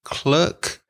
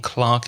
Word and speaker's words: clerk: I think one's American I think clerk is American and Clark is English British English I'm not too sure but either pronunciation is acceptable the next one is